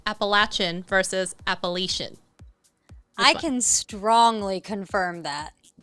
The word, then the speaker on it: Appalachian: following her, she was saying that people miscommonly pronounce Appalachian, and that it's technically Appalachian.